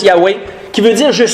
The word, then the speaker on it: Yahweh: Yahvé, on le prononce Yahvé, Yahweh, les Hébreux le prononcent plus Yahweh, qui veut dire « Je suis ».